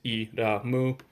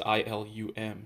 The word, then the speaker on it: Ilum: Here's Elam. Or Elam, I'm not really sure how to pronounce it directly. In Japanese, it's Iramu, but in English, it's Ilum.